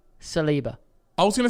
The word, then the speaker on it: Saliba: And I'm pronouncing this correct? Saliba. I was going to say Saliba.